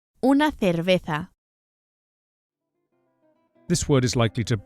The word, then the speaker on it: cerveza: Both the initial C and the Z or the Z are pronounced as English THs.